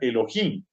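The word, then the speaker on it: אלהים: cierto?, de la literatura, que da Al-Jin y se pronuncia Elohim.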